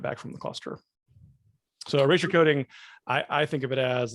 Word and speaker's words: erasure coding: All right, so pronounce it for me again, but slow. Erasure coding.